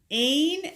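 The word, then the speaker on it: Áine: We have switched over to Jaslyn from Leslie, and we got the February, which is called Aine. Aine, A-I-N-E, with an accent aigu on the A.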